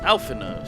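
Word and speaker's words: Alphinaud: How can you still not pronounce his name? It's Alphino, sir.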